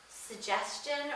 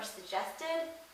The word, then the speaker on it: suggestion: one syllable oh and suggestion or suggested I say both G's soft when people make the first G hard it it sounds gagging to me I have a point